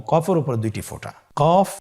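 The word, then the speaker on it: قاف: কফ উচ্চারণের ক্ষেত্রে একটু মোটা করে উচ্চারণ করতে হবে। আপনারা আমার সাথে আবার বলুন কফ। আরেকবার চেষ্টা করুন। কফ। কফ উচ্চারণের ক্ষেত্রে অবশ্যই তিন আলিফ টেনে পড়তে হবে।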